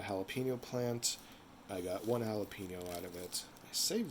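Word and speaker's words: jalapeño: plant I got one jalapeno out of it I saved the seeds however Joe Avenue Peppers actually in Spanish the J is pronounced more like an H sorry for the jalapeno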